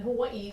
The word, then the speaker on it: Hawaii: up we used in Hawaii the the letter W is pronounced with a v Hawaii so we use